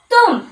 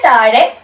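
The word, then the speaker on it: तुम: എന്താണ് അതല്ലെങ്കിൽ അവൻ ഇനി വേറൊരു വാക്ക് നോക്കിയാലോ നമുക്ക് തും കണ്ടോ തും എന്ന് വായിക്കും അതായത് താഴയുടെ താഴെ ഈ ചിഹ്നം കിട്ടുമ്പോൾ എന്താണ് അവിടെ ഉച്ചാരണ രീതി മാറുകയാണ് ഏതൊരു വാക്കിന്റെ എവിടെയാണേലും മുകളിൽ ആണേലും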